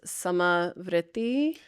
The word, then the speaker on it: samavritti: I often say the pranayyama practice samai. Um and so s's you know like same or uh you put a little roll on it.